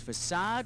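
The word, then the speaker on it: façade: fa8 the word is facad which rhymes with Rashad and Ahad yep his name also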